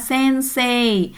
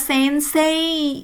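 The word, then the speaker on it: 先生: sensei ya guru ya sense nah ini tidak dibaca sensei ya i ya tidak dibaca jelas tetapi menjadi e. Hmm, ini menarik juga ya. Sensei ee tulisannya tetapi dibacanya sense ni sense sense gakse tokisnya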